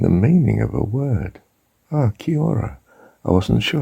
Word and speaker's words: kia ora: Kia ora. I wasn't sure how to spell it in our normal English way of writing it.